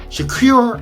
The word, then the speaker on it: Shakur: would have been a k there but Shak shakure I'm like how did he not know that